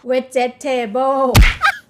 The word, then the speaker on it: vegetable: Vegetable. Vegetable. Again, it's like you cut it into three, like how do you say it? Vegetable. Oh, it's four. Yeah, it's Vegetable. four. It should be three.